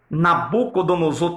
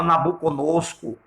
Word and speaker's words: Nabucodonosor: se em português é difícil pronunciar né Nabucodonosor tem gente que chama nabucodonosco troco os nomes agora imagine em hebraico